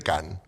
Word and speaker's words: Cannes: Porque se pronuncia Cannes en francés.